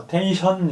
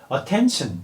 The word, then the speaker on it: attention: 그런데 그 중에서도 N 다음에 tion, sion, 션 소리가 나는 게 붙어버리면 이게 그 비음 때문에 소리가 시 발음이 안 나고 치 발음이 돼버려요. 예를 들어서 attention도 attention 이렇게 하는 게 아니라 그들에게는 원어민들에게는 attention 이렇게 하는 게 더 자연스러운 거예요.